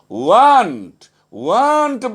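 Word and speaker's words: weren't: উই আর নট, ওয়ার নটকে আমরা কখনোই ওয়ার নট বলবো না, কথা বলার সময় আমরা বলবো ওয়ান্ট বলবো, ওয়ার নট কি হয়ে যাবে উচ্চারণের সময় কথা বলা ওয়ান্ট।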